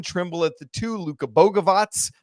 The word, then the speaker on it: Bogavac: at the two, Luca Boavatz and now we know that that is indeed the correct pronunciation because the roster guide came out this week at the three, Caleb